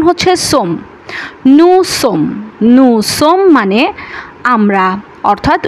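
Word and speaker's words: sommes: O double ME এস উচ্চারণ হওয়ার কথা ছিল সোমেস কিন্তু উচ্চারণ হচ্ছে সমম নুসম নম মানে আমরা অর্থাৎ উই আরজেদ দর্শক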